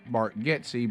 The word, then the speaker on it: Bargatze: And then he said, well, our real name is Bargatze, but since people that are a lot bigger than me were mispronouncing, our family just changed it as well.